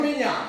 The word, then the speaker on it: Wembanyama: Let's pronounce his name right. Women Yana. Victor. Yeah, remember that name? Wembanyama.